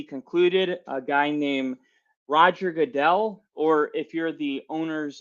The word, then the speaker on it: Goodell: in the NFL not even know how to pronounce the name Roger Goodell but tomorrow Roger Goodell or Goodell whatever you prefer will go up and say